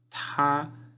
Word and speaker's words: 他: Él, ta. La T suena con aire. Ta es el primer tono, entonces es como si estuviera cantando una nota alta.